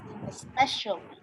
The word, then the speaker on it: especially: a simple colleague but we don't pronounce it like that we shorten the word specifically okay we omit the a sound over here especially for example right um when you